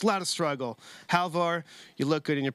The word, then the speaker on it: Halvor: It's Halvor. Halvor is his first.